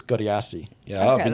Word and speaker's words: Godeassi: I just realised I've been saying your last name wrong. Honestly, 10 I years. say it the very Aussie Godeassi. bogan way. Yeah. How do you say it traditionally? I believe it's Godeassi.